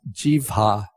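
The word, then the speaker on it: jivhā: the tongue is the word for tongue is Jeeva with a long a which marks it as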